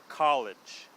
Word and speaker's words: college: the same okay so we want to make sure to get that first vowel sound correct and then the R and L and the emphasis on both words is are both in the first syllable get so college courage